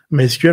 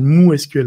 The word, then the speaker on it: MySQL: MySQL, en fait, c'est la prononciation américaine, mais ce n'est pas du tout le nom de la base de données. Le nom de la base de données s'appelle MooSQL en réalité. Ah ouais. Et tout le monde dit, mais pourquoi Moo? Mais en fait, il ne faut pas oublier que Monty est un Finlandais. En finlandais, le Y se prononce OU.